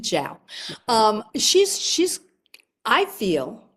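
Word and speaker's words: Zhao: Uh, Chloe Zho, I think. Ziao. Jiao. She pronounces it Jiao.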